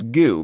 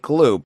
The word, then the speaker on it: Glu: David, you set me correct on this because you want to think it's goo because it looks like goo, but it's glue. Glick to it. Things stick to it. Yeah, like glue. Much like glue, spelled with a glue e, but spelled gl O because poor literacy is cool.